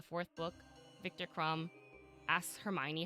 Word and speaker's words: Hermione: Like, you know in Harry Potter too, that's literally why in the 4th book, Victor Crumb asks Hermione how to say her name.